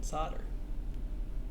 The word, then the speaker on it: solder: when I'll do it there is no l in solder soldier that's too much